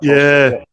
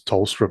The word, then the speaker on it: Tholstrup: Tholstrup, yeah. I heard the commentators pronounce it as Tolstrup though, but it is what it is.